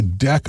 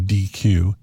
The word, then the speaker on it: deque: And the default type of queue uses a deq object. And you notice I pronounced that deq instead of deque because deque might seem like a verb.